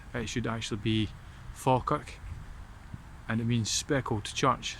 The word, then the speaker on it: Falkirk: The town of Falkirk is really mispronounced. It should actually be Falkirk, and it means speckled church.